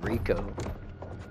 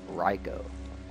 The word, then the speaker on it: Reiko: will face judgment Reiko I've been calling him Rico like I didn't know you pronounced his name reinforcements will be on the way I've always pronounced it like Rico foreign it's riko oh there's Tanya and